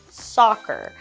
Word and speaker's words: soccer: Our first one is I like to play soccer. So we see the double C, which lets us know that it makes a K sound.